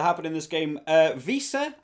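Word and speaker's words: Wiese: in this game uh visa i believe is the pronunciation a couple people were very helpful in the comments last week helped me pronounce who i think i called vice i think i said last week but visa the number eight um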